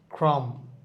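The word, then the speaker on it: crumb: কথা বলা হইছে বম এখানে বম হবে না ক্রাম ক্রাম ক্রম ড এখানে বিটা উচ্চারণ হচ্ছে না অনেকে আমরা বলিড এরকম মনে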